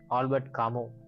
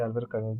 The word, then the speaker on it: Albert Camus: He's actually, it has to be pronounced as Albert Camus. Okay, in English I don't know, but as French speakers, so we say Albert Camus.